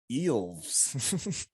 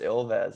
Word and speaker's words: Ilves: So I was gonna call it Eels. Yeah, it's pronounced Ilves.